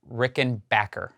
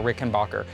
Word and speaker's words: Rickenbacker: percent acknowledge that it's rickenbacker right or is it Rickon Rickenbacker Rickenbacker it's what you think it wouldn't be it's not Rickenbacker its Rickenbacker that's the correct pronunciation but that being said